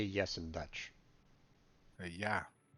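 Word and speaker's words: ja: say yes in Dutch yeah duh it's like German yeah okay j-a yeah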